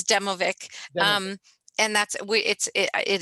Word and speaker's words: Demovic: you by pointing out you've said my last name wrong oh yeah i know that's okay um it's demovic um and that's it